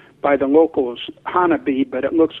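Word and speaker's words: Honobia: up there south of a town that is pronounced by the locals Hanabi but it looks like an obeah and that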